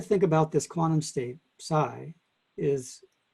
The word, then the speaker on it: psi: with okay psi the the p is usually silent so it's pronounced psi but some people put